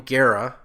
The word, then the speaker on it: Gara: two different pronunciations so my last name Gara which I say rhymes with Sarah only to make it